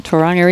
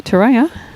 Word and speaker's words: Tauranga: Enjoying from Tauranga in New Zealand. Afternoon, Robert. Hopefully the weather's over there, Robert. It'd be a bit cool, I'd say, Tauranga. Shane, let's go up the hill. Tauranga? Sorry. Tauranga.